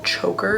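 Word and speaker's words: Chvker: But I have this super pretty necklace from Choker. It's spelled C-H-V-K-E-R though.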